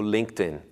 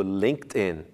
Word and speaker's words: LinkedIn: mundo para profissionais o Linkedin como isso mesmo o linked in a pronúncia correta é linked in e não LinkedIn como pronunciam por aqui vamos agora para a